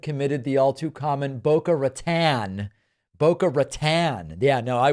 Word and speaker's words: Boca Raton: Sounds like English, right? Boca Raton. We'll pronounce it that way.